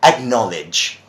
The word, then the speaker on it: acknowledge: howdy rounds up knowledge just like knowledge you've got knowledge and they you say acknowledge that's the way pronounce acknowledge oh thank you thank